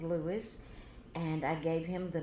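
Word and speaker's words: Luis: It's L U I S for Lewis. Uh, there's about three different uh spellings that I can think of right now, but I love the way uh it's spelled. L U I S. So I left it spelled that way and I left his name as Lewis and I gave him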